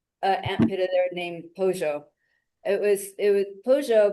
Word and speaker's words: Pollo: a ant there named Pojo. It was it was Pojo means chicken in Spanish. Um and they pronounced the double L like with a J sound down there.